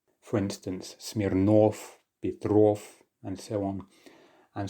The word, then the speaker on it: Smirnov: For instance, Smirnov, Petrov, and so on. And so despite there being a letter V there at the end, we still pronounce it as if it's an F.